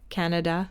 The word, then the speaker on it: Kannada: Like, as I mentioned, a language called Kannada that I hadn't even heard of. Canada it's pronounced.